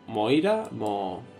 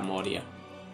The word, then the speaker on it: Moria: Espérate que lo pronuncie bien. Moria. Moira. ¿Cómo era? Moria. Era Moria.